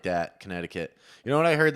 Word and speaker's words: Connecticut: would Canton, Connecticut. Yeah. Canton. How do you say Connecticut? Connecticut. No T's in there. Connecticut. There's not a single T in Connecticut.